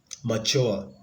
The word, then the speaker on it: mature: then we have a mature mature so that the stress is on the second syllable madam the stress is